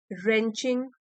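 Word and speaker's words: wrenching: Eight times means कभी कभार heart रेंचिंग moments. W silent है।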